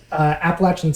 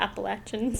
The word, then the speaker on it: Appalachian: Appalachian State, which is up in the mountains of North Carolina. How do you pronounce that word?